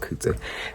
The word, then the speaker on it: COOTSO: Hi, it is I, COOTSO, pronounced Kuta, and welcome back to my YouTube channel.